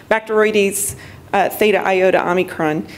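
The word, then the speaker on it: Bacteroides thetaiotaomicron: I've worked on this organism for 15 years, and I finally learned how to pronounce the name. Bacteroides theta iota omicron.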